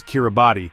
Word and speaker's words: Kiribati: Independence came in 1979 as Kiraabati the Gilbert's pronunciation of Gilbert's Kiribes.